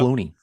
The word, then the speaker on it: Cloney: And that's Stacey Clone, Klone. So if you guys are looking her up. Cloney. Yeah, Cloney. Rhymes with Tony.